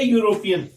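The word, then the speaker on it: European: जैसे ए यूरोपियन, तो यहां पर यूरोपियन में ई जो है ये क्या है? साइलेंट है, इसलिए इसको बोला क्या जा रहा है? यू।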